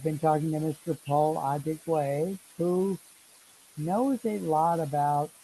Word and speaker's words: Adigwe: So, ladies and gentlemen, we've been talking with Paul Adigwa. I am trying to say his name correctly. He's a Adigwe, very, Adigwe. thank you, Adigwe. I got to put down the phonetic for that.